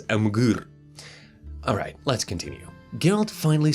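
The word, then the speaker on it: Emhyr: Nilfgaard, working for Emperor Emir himself. By the way, originally it is pronounced as Amgur.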